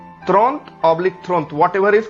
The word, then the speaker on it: trente: 30 को हम फ्रेंच भाषा में बोलते हैं त्रोंत या थ्रोंत, त्रोंत, त्रोंत। Sometime we also call थ्रोंत, थ्रोंत। थ्रोंत means 30। त्रोंत oblique थ्रोंत, what ever is comfortable to यू।